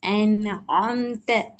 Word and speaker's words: أنعمت: عين أنعمت. அந்த ஆம்த வானத்தை நோக்கி போகுது. அன் ஆம்த. أنعمت.